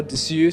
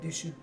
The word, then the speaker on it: Dessus: There's obviously what the brand is, Letoile or Dessus. So you know the S at the end is silenced out. So you have so if you want to try and pronounce it, Letoile and Dessus.